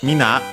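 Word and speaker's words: みんな: uh mina uh or mina in in our case uh accented on the last uh syllable in both cases means everyone everybody and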